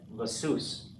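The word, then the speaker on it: לְסוּס: And it's going to have this vocal schwa in it, le sus. Sounds French, but it's Hebrew.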